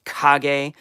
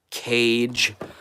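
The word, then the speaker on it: Kage: Yes, it's Kag, not Cage. Uh, like I used to say when I was a little boy.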